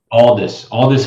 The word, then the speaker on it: Aldous: Aldous Huxley.